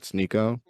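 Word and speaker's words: Sneako: Some people have noticed it, like you mentioned before, Zach Sneeko. Am I pronouncing his name right? Sneeko?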